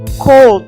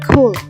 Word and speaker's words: could: juga menggunakan kata ko jadi bacanya could bukan call deh tapi kulit Nah ada lagi nggak